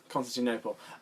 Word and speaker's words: Constantinople: Constantinople.